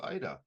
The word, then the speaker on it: Aida: because it's by name my name is Ida the a is silent yes thank you sir